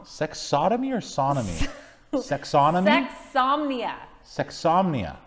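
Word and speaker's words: sexsomnia: or sodomy sexonomy insomnia sexomnia yes like insomnia but sexomnia do you know what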